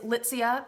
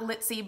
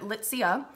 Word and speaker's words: Litsea: It is Litsea. That is how you pronounce it, not Litsea, but Litsea.